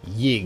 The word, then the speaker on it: Yggdrasil: Dirk Pitt Rivers says, FYI, the stress is on the Y in Yggdrasil, so it's pronounced like Yggdrasil, just with a Y.